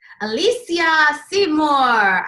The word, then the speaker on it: Alysia Seymour: that you are here Alesha Seymour I like to say your name you pronounce it right from the bag that's amazing I try